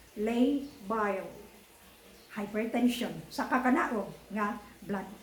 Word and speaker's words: labile: Lay, L-A-Y-B-I-L-E, pronounced as labile hypertension sa kakanaog nga blood pressure.